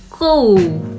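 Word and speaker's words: koe: Lanjut sapi atau ku? Benar enggak, Mami? Ku jadi pengucapannya ku.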